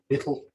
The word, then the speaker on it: victuals: It comes from victuals, which is the common way of pronouncing victuals. But bittle just means food.